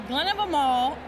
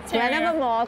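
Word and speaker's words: Glen of Imaal: So it's called a Glen of a Mall. Glen of a Mall, because you said like a mall. And it rhymes like best of them all.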